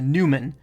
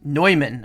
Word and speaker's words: Neumann: name Newman many times, noobs may pronounce it as a Newman. Show some respect to the legacy of George Newman and the oi sound as in noise. Neumann, oh. Which is one thing we don't expect to find in a Neumann microphone.